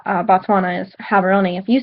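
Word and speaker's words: Gaborone: you said um the capital H batswana is habon if you said it Gabon because that's how it's spelled they would kind of get a little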